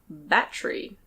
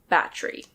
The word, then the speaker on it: battery: Here we have a battery. Battery. Yes, in the UK and Australia we often don't pronounce the E. We say "battry". But you can say "battery" or "baddery" if you want.